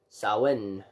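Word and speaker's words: Samhain: time the longest night of the year salan pronounced Sawin which is funny because that's theoretically not the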